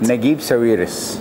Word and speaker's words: Naguib Sawiris: How do you pronounce it? Naguib Sawiris.